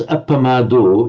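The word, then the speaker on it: appamādo: But one point I noticed, when you pronounce appamado, you correctly pronounce that long O at the end. But when you pronounced sanyamo at the end of the first line, you kind of shortened the vowel somewhat, Okay.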